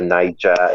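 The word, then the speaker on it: Naija: Niger nerds oh yeah so niga is spelled n a i j a it's just like um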